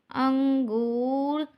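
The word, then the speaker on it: انگور: पेश गु रे साकिन अंगूर मीठा अंगूर कोई नून ऐसा होता है वर्ड के हिसाब से थोड़ा साइलेंट होता है तो यह हमारा नून साइलेंट वाला है मीठा अंगूर च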